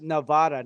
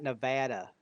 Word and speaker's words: Nevada: it's pronounced Nevada, not Nevada.